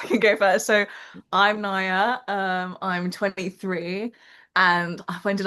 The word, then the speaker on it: Nya: And welcome to Kim and Nia to this beautiful episode. Hi. Hello, hello. Oh. I was just gonna say it's pronounced Naya.